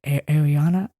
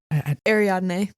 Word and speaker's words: Ariadne: when he is training, how do you say, Ariana? Ariadne.